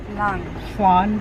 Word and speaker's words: flan: Jaquie: Flan from Bravo. *Pronounces it fl-an, the an like in pan* Janiece: It's Flan *pronounces it correctly* Janiece: Say it Flan. Jaquie: Fla. Janiece: it's not Fl-an. Don't say it with an English accent.